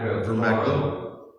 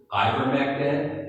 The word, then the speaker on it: ivermectin: for getting and obtaining Vermectin? Wasn't it vermectin? Ivermectin and hydroxychloroquine. I mispronounced that.